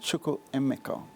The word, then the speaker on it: Chukwuemeka: So I say it's pronounced Chukwuemeka. That's more the African pronunciation as opposed to the English pronunciation. So growing up in prep school, I used to be called Chukwuemeka. But that's more the English phonetical pronunciation.